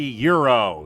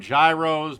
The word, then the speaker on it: gyro: And for you today, we have a Chipotle turkey euro. Some people call them gyros, but it's pronounced Euro.